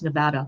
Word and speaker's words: Nevada: Nevada Nevada I say Nevada because Nevada in um Nevada in Spanish means snowfall so I always assumed that that's how you pronounced it but apparently it's Nevada whatever good to know